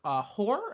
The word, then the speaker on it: Hoare: All right, my news story is speaking to Deadline, director Peter Hoare, I think is how you say his name, Hoar, not the other one.